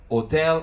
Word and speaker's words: hotel: Italian and I say journalista Jour film hotel hotel in Italian we don't pronounce the Ed these are words that you